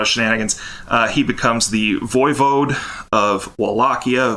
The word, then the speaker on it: voivode: And then through some shenanigans, there's going to be a lot of shenanigans, he becomes the voivode of Wallachia. Voivode means prince, but is actually like king, Yeah, I can't believe that really is how you say that word.